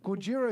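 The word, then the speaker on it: ゴジラ: No, Gojira is how you say Godzilla in Japanese.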